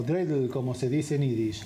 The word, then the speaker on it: dreidel: Damián, vimos que en el informe de Maya, en Hanukkah los niños juegan con una perinola o dreidel, como se dice en Yiddish.